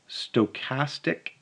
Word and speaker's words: stochastic: so a stochastic process this is how you pronounce this it's a stochastic process is a sequence of experiments that depend